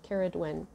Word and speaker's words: Cerridwen: when i looked that up um it was it's spelled differently now but it's a goddess and her name is karaduen and so i did i still need a